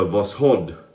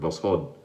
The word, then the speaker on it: Voskhod: So Gillette Heritage with a Voskhod, I think I pronounced that correctly, with the emphasis on the second part, Voskhod blade inside.